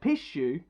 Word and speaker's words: pishu: For example, the word pishu, for example, is pronounced very much like a sneeze.